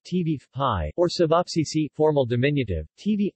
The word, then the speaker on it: ćevapi: cevapi pronounced t beef pie or cevapcici formal diminutive TV apt cevapcici is